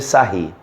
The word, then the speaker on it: Sarrus: escreve da seguinte forma regra de Sarrus mas se pronuncia a regra de sair a regra de sair